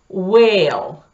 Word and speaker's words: whale: невопросительные слова типа white, whale, white, белый, whale, это кит. Вопросительные слова, я надеюсь, вам знакомы. В этих словах из двух букв W, W и H произносится только буква W, а H не произносится.